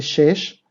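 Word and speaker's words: שש: Para el femenino se dice shesh y para el masculino shisha.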